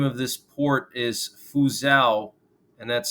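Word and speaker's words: Fuzhou: Taiwan and the name of this port is fuzao and that's spelled f-u-z-h-o-u and apparently this port is the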